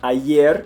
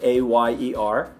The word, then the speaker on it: ayer: Yo for Y, or ayer means yesterday, A-Y-E-R, ayer. Right? It's just a Y sound.